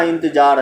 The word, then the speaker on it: इंतज़ार: देखिए मंजिल और इंतज़ार नहीं, इंतज़ार।